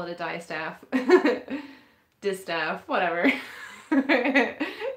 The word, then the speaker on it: distaff: dress the dice the i keep calling it a die staff sorry i think i probably call it dystop because it's a little bit like how you would pronounce dioxide dive staff but then you know